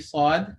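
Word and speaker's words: ص: When you start off the sound of the Saad, when it has a fatha dhamma kasra, it will only be air. But by the time you pronounce the haraka, there will be vibrations felt.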